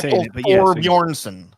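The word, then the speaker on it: Thorbjørnsen: like this guy Michael thorbjornson I just like to say his name you didn't do a very good job Thor bjornson emphasize it correctly Michael thorbjornson if you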